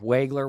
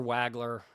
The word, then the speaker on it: Wagler: Starts off with Keaton Waggoner. I'm saying it wrong, Waggoner Wagler. Sorry.